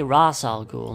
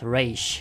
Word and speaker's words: Ra's al Ghul: al Ghul and yes I say Ra's al Ghul not race stop correcting me racial